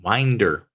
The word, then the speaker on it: Winder: Winder Georgia Barrow County Winder Georgia is how you pronounce it it sounds like Winder but it's Winder um as Cala said